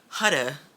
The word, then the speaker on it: Huda: oh my gosh about the butcher her name huda is how you pronounce her name beauty foundation sticks um these